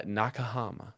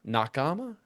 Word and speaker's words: nakama: I think I like Nakahama better because it kind of rolls on the tongue better, but but it doesn't have an H. So, Nakama.